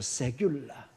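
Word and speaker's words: סגולה: 세귤라. 약간 영어 발음의 세큘러 여기 비슷한데 그거하고는 전혀 다릅니다.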